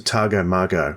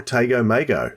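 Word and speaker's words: Tago Mago: have a listen to targo margot or tagomago however you want to pronounce it by can check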